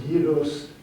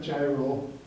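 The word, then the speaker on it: gyros: left suaki or G I mean and it's pronounced gyos not gyro and then suaki is a spit there and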